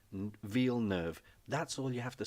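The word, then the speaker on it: Villeneuve: can't pronounce v nerve it's French it's as in v e for Village nerve as in sort of new so New Village ve nerve rhymes with wheel rhymes with Verve ve nerve that's all you have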